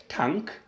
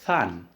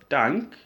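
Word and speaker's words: tanh: Okay, so in terms of tan, we pronounce it as tank or than. All right, so we have tan x like this. All right. Okay, like this. You see now? This one is pronounced as tank, or you can pronounce this one as than.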